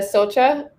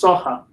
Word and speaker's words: Socha: from porchdom is here we have socha am i mispronouncing your last name it's saha thank you and uh